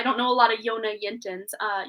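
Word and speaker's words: Jonna Jinton: know a lot of yonah yintan's uh yona yintin it's spelled j-o-n-n-a-j-i-n-t-o-n but she's got a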